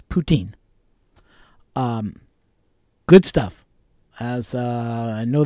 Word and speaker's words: poutine: you guys try poutine now your presence ain't poutine or Putin or it's the French pronunciation is poutine good stuff as I